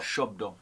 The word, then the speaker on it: Shabdo: Bengali pronounce itd shdo shdo the a would have more of an O kind of a sound believe was translated when